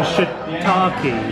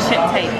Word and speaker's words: shiitake: Say, please don't order a shit-taped donburi.